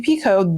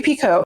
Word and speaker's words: Picoult: First of all, it's my first Jodi Picoult. And yes, someone pointed out that like I'm saying Picoult instead of Picoult. I don't know why, but for whatever reason, I'm pronouncing her name in French.